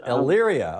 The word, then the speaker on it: Elyria: Elyria.